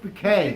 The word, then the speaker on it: Bucket: but it's not black it's pronounced bouquet okay mrs bk sorry